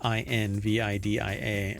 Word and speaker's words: Nvidia: Nvidia I N V I D I A reflects its founders hope to evoke envy. Some people still don't know how to pronounce the name.